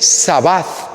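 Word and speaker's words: שבת: ¿Cómo se dice sábado en hebreo? Se dice sabat.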